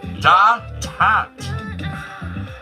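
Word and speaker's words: détente: It was pronounced da-tat.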